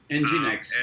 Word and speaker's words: nginx: and we one of them is running this nginx as tom said it's pronounced ng x yeah you're right cool cool and uh what